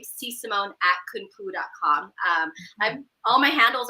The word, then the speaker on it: Sysamone: Sysamone.